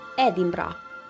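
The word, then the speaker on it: Edinburgh: Scotland की राजधानी एडिनबर्ग है, जो एक खूबसूरत शहर है जिसके पीछे एक लंबा इतिहास है। स्कॉट्स इस नाम का उच्चारण एडिनब्रोआ करते हैं।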